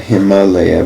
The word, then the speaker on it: Himalaya: It's not Himalaya. We say it like that, but that A is long. It's the same, but it's Himalaya.